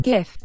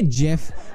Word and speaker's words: GIF: of all more importantly it's pronounced gift okay if you're calling a jiff I don't know what to tell you there must be something wrong with you are you straight-up loco